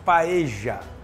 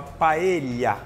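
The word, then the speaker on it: paella: ensinou que não se fala nenhuma hipótese paeja você tem que falar paelha o LL na Espanha vira lha LH pra gente então aqui pela mesma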